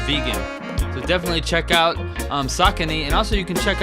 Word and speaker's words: Saucony: And a few years ago, I ran into a line of shoes, Saucony, or Saucony, I believe it's pronounced Saucony, the Jazz Low Pro, and there's a whole line of vegan options.